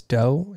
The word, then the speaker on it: Do: you don't know me my name is doe it rhymes with plato plato i'm a loud introvert